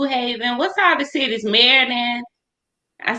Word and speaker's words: Meriden: Meriden.